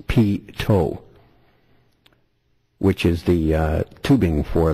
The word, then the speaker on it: pitot: And he gives me a little tutelage on the pitot, pronounced pitot, which is the tubing for the speed indicator sensors.